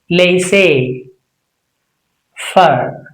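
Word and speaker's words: laissez-faire: But what is the right way? It's simply laissez. Can you say laissez? Fur. Laissez fur. Laissez fur. Can you say that? Correct. Laissez fur.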